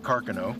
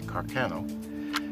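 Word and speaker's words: Carcano: is a 6.5 mm Caro that was the proper pronunciation although most Americans say Carano it's a mechanically operated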